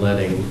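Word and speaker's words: leading: Yeah, no, Like- it's the line letting, spelled like L-E-A-D, letting, yeah, Okay.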